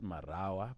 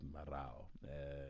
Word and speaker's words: Marau: So not Marawa, but Marau.